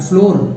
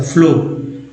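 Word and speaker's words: floor: और फ्लोर में double O का उच्चारण जो है ओ के रूप में हुआ है, फ्लोर।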